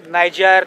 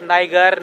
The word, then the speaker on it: Niger: तो अलग अलग लैंग्वेज में इस रिवर का नाम का प्रोनाउंसिएशन अलग अलग है, नाइजर, नाइगर, नीजर।